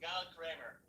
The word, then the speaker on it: Gal Kremer: guys, if you don't know Gal Kremer, I always get it wrong. Kremer, sorry. It's pronounced Gal Kremer.